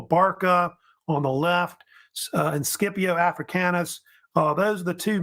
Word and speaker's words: Scipio: And Scipio Africanus, sometimes pronounced Scipio, was really the main